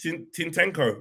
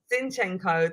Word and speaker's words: Zinchenko: Tintenko. What did you say? Zinchenko. Don't even try like a little bit like Tintenko, something a bit different.